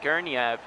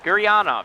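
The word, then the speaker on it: Gurianov: off a sticker uh guerniev gergiev gurney off guriano guriano there we go that's how you say his name penguins win that malkin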